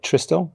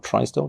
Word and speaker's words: Tristel: We've got Tristel, or Tristel, depending on how you pronounce it, which is a manufacturer of its own formula of disinfectant.